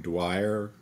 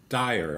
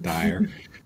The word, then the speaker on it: Dyer: this thing Dr Wayne Dwyer said Dwyer's dad's name Wayne Dyer Dyer I knew I was saying it wrong dire you know that the